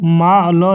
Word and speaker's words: मॉल: उनको मा ल लिख करके और यहां पर ऐसे दे दिया जाता है। तो यह जो है उच्चारण यह एग्जैक्ट उच्चारण माल नहीं होता है। इसको हम क्या बोलते हैं? मॉल बोलते हैं।